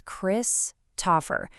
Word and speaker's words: Christopher: Of course, we all know the name is Christopher. The stress, the spotlight falls right on that first syllable.